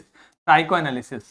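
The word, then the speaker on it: psychoanalysis: जब भी ये वाला शब्द दिखे ना तो क्या करना है, हमें वो वाला वाउल देखना है। को के बाद में क्या आ रहा है? ए आ रहा है, मतलब ए वाला साउंड, साइको अ। फिर देखो यहां पे फिर से ये वाला अक्षर आ गया, तो देखो यहां पे सिस के पहले क्या लिखा हुआ है? सिस के पहले वाई लिखा है, यानी कि हमें ई बोलना है।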